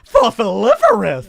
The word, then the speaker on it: fossiliferous: So, it should be said like this. Fosiferous. Absolutely. Absolutely. It has to be said like that. If it's not said like that, you're saying it wrong.